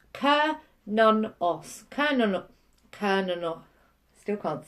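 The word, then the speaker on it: Cernunnos: Pronounced Kernonos.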